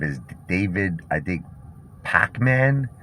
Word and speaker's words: Pakman: so i don't know i guess you pronounce it similar david p a k though not p-a-c p-a-k-man david pac-man okay um this guy